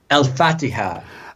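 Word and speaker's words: الفاتحة: Is that how you pronounce it? Al-Fatiha.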